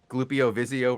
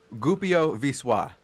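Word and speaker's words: Głupio Wyszło: did you know that we were pronouncing Glupio Vizio wrong? We were? Yeah. How do you pronounce it, Shozen? Glupio Viswa. That sounds French. I Yeah. thought so too, but those L's are silent. And after certain letters, they turn the O's into different letters.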